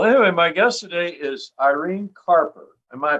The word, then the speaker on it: Irene Carper: So anyway, my guest today is Irene Carper. Am I pronouncing that right, Irene?